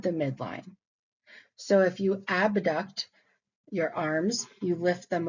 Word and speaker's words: abduct: these terms in school we pronounce them AB duct and a duct which I still do in my head to this day to keep them separated in my mind the term phasia here